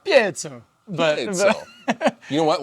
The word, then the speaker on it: Piezo: proper pronunciation for Piezo ah paiso Piezo I say Piezo and it's probably like pietzso but so you know